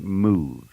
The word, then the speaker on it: MUV: That's right, Move. M-U-V. Move is spelled M-U-V.